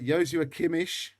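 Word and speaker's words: Joshua Kimmich: it's tough isn't it um okay um how about this one uh yosu akimish that's the correct pronunciation by the way uh yoshi kimmy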